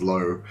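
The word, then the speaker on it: Louw: always pronounce it as lao and i always like fumble it and even though he explained it's pronounced low i just constantly forget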